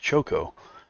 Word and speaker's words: Chaco: Also known as Chaco, pronounced Choco, even mentioned he had reservations about making Cosmos' manga-style proportions.